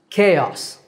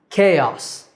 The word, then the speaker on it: chaos: It means a state of total confusion, and it's pronounced chaos. K, like the letter K, and os, chaos.